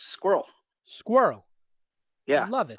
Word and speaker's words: SQRL: Yeah, it's Squirrel. Squirrel. Yeah, Love it. I joke I can't afford any vowels, so it's spelled SQRL.